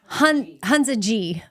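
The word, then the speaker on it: Hunza G: Oh, Hanza G.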